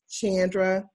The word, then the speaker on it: Chandra: give you all the the correct pronunciation of my name it's chandra with a heart ch so just for future